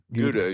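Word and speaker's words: Gouda: Guda. Guda is usually what I hear.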